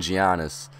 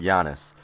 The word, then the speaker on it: Giannis: that I was saying I was saying giannis literally the whole entire time we had him but it's pronounced Yanis I knew this but